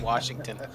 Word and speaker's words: Washington: It's like people who say Washington. There's no R in Washington.